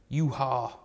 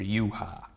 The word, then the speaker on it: Yhwach: today we have a Bleach character we have yuha you walk you you are Buck there's lots of different ways to pronounce it his name I don't know how